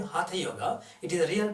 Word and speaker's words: hatha: is hot yoga practice hot yoga I'm saying hatha yoga it is a real pronounced it not ah ha ha ha ha